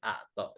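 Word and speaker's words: اقطع: Misalnya di sini judulnya Aiz A'to. Ini kof berubah menjadi hamzah.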